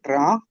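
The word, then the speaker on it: רַע: Porque ahorita es ra. Esta es al final no se oye la g. Al final no se oye esta hay que hay que pronunciarla, ¿verdad?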